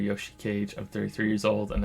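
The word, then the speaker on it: Yoshikage: to Yoshi cage or Yoshi I said it wrong again my name is Yoshi cage I'm 33 years old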